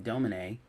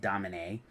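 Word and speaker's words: Domine: cover of Pink Floyd's astronomy dominae if you pronounce it correctly in the Latin not dominate don't say Dominique everybody does I rhyme it they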